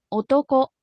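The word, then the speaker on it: おとこ: ponerle grabación o toco o toco bien si se fijan Ahí está lo que les comenté hace un momento eh la primera sílaba es baja y las demás son altas O sea no dice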